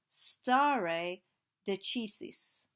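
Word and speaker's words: stare decisis: a principle known as St deisis or St deis I suppose depending how you want to pronounce the Latin which is the idea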